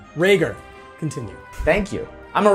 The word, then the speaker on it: Rhaegar: my name is not rager hmm though a lot of people they make that mistake my name is Rhaegar mmm you know it's